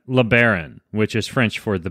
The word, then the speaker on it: LeBaron: his name is LeBaron am i pronouncing your name right is it LeBaron or lay barren or LeBaron all right LeBaron which is French for the bear I'm just